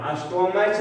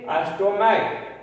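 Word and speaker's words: stomach: करना है मोनार्क, और एस टी ओ एम ए सी एच अगर करना अस्टोमैच नहीं बल्कि अस्टोमैक, तो उस परिस्थिति में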